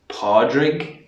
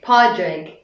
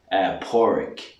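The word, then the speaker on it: Pádraig: The proper pronunciation is Padraig. Padraig. Padraig, or some people pronounce it and the spelling can change, Porrick.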